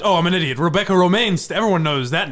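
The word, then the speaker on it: Romijn: Romaine.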